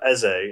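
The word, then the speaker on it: Eze: without wilfred so no decent playmaker you've got essay it's how you say his name he's actually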